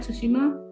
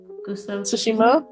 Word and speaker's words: Tsushima: of what's the word to shima i might pronounce it right tushima tsushima yes saturn i love the ots and the